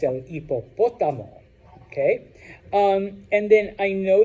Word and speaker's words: hipopótamo: Hipopótamo, hipopótamo, hipopótamo, hipopótamo.